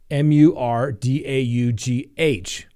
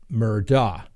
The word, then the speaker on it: Murdaugh: Now, I see it as spelled as Murdaugh. I pronounce that Murdaugh. I've been told it's pronounced Murdaugh or even Murdaugh.